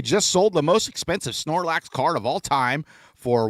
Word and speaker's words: Snorlax: The world's most expensive Snorlax card just sold for over $10,000. Did I pronounce that right? First off, Snorlax. Snorlax is right.